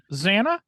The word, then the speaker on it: Zannah: It's pronounced Zannah.